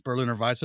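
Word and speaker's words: Berliner Weisse: This is This will rhyme because I'm gonna use the German pronunciation. Well, it's a Berlin or Visa, which is a style. It's called Merlin and Berlin. Merlin and Berlin. And it's Berlin or Vice.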